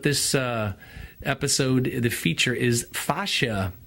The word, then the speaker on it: fascia: episode the feature is Sasha it's a connective tissue that's in the body it's the main focus of the day my system it's spelled FAS CIA facias what it looks like and it's basically what